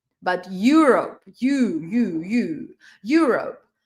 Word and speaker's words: Europe: I'm going to Europe, not Europe, but Europe.